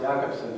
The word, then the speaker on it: Jakobson: Yeah, his name is pronounced Jakobson because that's the way it is in Russian. Although it looks like Jacobson, but actually his name is Roman Jakobson.